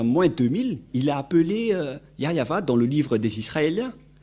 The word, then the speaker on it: Yahvah: par exemple vous êtes pêcheur si vous ne prononcez pas yayava vous êtes directement un pêcheur si vous dites